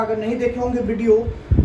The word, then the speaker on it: Wundt: हिंदी में वुंड होता है, इंग्लिश में WUNDT साइलेंट होता है, इसको वुंड पढ़ते हैं।